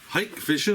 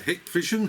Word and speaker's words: Hikvision: this one it is a hike vision or a hick vision however you want to pronounce it d s dash 2